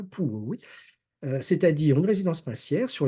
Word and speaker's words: Puławy: On ne parle pas le polonais, mais je crois qu'on prononce comme ça, Pułowy, c'est-à-dire une résidence princière sur les bords de la Vistule où ils ont donc un palais.